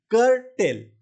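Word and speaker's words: curtail: Pronunciation कैसे होता है इसका? कर टेल। करटेल।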